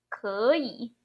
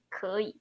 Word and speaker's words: 可以: Okay, be careful. 2 third tone together. The one at the end remain as third. The one in front become second tone. 可以. 可以.